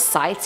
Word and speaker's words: scythes: through the corridor of sites am I the only one who finds a way that this word is pronounced without the C likewise it sites and not scythes that's also very hard